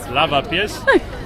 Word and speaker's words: Lavapiés: And right now we are in a place, please correct me if I pronounce it wrong, Lavapiés? Yes. Lavapiés.